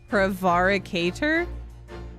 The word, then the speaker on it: prevaricator: the pronunciation Google prevaricator prevaricator yes that sounds right pre pre why do you put the H if if you're saying the syil is pronounced like the word pre in preschool fine it's basic